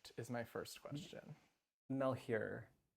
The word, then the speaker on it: Malheur: is my first question mel here mel here okay yeah it's sort of weird because it's french and so it it should be like but yeah well